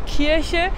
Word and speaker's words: Kirche: Attention, l'église dit Kirche, c'est bien le hier qui se prononce un peu derrière et c'est pas Kirche. Ça, c'est la cerise et c'est le « che » qui se prononce plus devant.